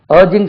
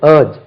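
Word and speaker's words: urge: என்ன சொல்றது உங்களுக்கு ஊக்குவிப்பது ஏர்ஜ் அர்ஜிங் some one டு do something அதுல இருந்து அர்ஜென்ட் வந்து யூ ஆர் ஜி இர்ஜ் அர்ஜ் இல்ல அது ஏர்ஜ் ஏர்ஜ் வந்து நவுன்லயும் வரும்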